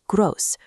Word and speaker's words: groß: It functions as a sharp double S. So, the word is pronounced groß, rhyming with the English word dose. Now, read them out loud with me. Nett, intelligent, groß.